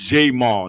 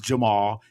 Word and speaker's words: Jamal: His name is Jamal, not Jamal.